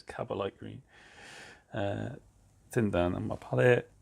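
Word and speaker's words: Kabalite Green: I said it wrong last time, so it's Cabalite green.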